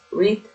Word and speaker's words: read: Read, read. Miren, escriben igual pero se pronuncian diferente. Este se lee como el color.